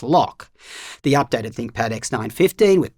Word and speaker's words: LOQ: For example, the redesigned and lighter LOQ, which apparently I meant to pronounce lock.